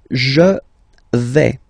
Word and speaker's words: vais: The first form is je vais. Okay, so remember, final S not pronounced here. Je vais. Okay, when you combine this A, I, you get the sound E, really open.